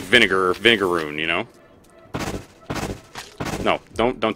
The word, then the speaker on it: vinegaroon: there's my groon actually it's actually pronounced i think it's like vinegaroon because uh whipped scorpions can uh expel this stuff that's kind of that's like semi-caustic and kind of vinegary so it's like vinegar vinegaroon you know no don't